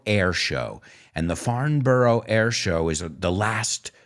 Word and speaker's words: Farnborough: one on our list farnborough or foreign bra as the british would say it's in england so i guess we have to pronounce it like they do it's one of the